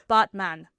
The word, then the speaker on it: Batman: So, it's actually pronounced botman. Botman. Like botman. Like he's a man who's a robot. Man. So like a as in father, father.